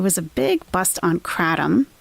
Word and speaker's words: kratom: There was a big bust on kratom. I know some people pronounce it kratom. Some people insist it's kratom.